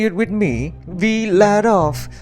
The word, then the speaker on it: Vladof: It's pronounced Villadov. Say it with me, we let off, not we add off.